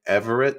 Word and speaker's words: Everaert: payman escari we have with me Mr Brian Everett is that the correct correct pronunciation y y all right uh Brian we